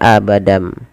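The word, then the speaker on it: أَبَدًا: Awalnya pakai n, abadan, abadan berubah menjadi abadam.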